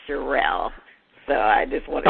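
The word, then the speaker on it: Cherelle: Well, I mean, unfortunately, it's been so many problems, and her name is not Cheryl, it's Sherelle.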